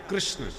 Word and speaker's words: कृष्ण: कृष्ण की जगह लोग किशन बोलते हैं। पंजाब क्षेत्र में प्राय किशन किशन महाराज राजस्थान में भी देखो कृष्णगढ़ और कृष्णगढ़ कौन कहता है?